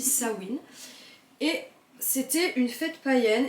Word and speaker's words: Samhain: c'est toujours païen mais qui s'appelait sawin alors ça s'écrit sama donc vous pouvez l'entendre des fois parler ça m'a ça m'aide ça il main Simon je sais pas quoi ça s'écrit Sahin donc quand on lit on lit ça mène mais en fait ça se dit ça win et c'était une fête